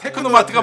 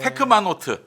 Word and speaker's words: 테크노마트: 테크노마트도 테크노마트라고. 테크노마트가 맞지. 테크마노트, 테크마노트라고 하는 분들. 약간 있어요. 한 글자씩 헷갈려요. 발음이.